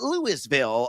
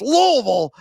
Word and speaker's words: Louisville: It's not Lewisville, America, it's Louisville.